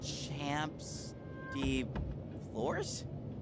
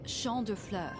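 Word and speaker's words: Champs de Fleurs: just like I imagine Champs de floors how do you say that it's Shand FL it means Field of Flowers this is the place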